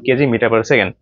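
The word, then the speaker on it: kg m s⁻¹: কেজি মিটার পার সেকেন্ড অনেকে আবার বলে কেজি এমএস inverse one বাট এটার সঠিক উচ্চারণ কেজি মিটার পার সেকেন্ড এই মাইনাস আছে উপরে ওইটাকে পার বলে ঠিক আছে তো এখন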